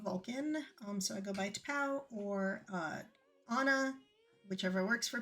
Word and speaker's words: T'Pau: A lot of people also refer to me as Vulcan because they don't know how to pronounce T'Pau, because it's got two consonants next to each other and nobody knows what to do with that, which is fine.